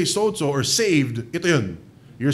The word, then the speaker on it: sozo: It's spelled S-O-Z-O, but for some reason in Greek, you parang may D, eh. Sozo, eh.